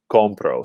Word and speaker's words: compro: we know that because compro ends in a vowel the vowel o that the stress will fall on the second to last syllable control so that is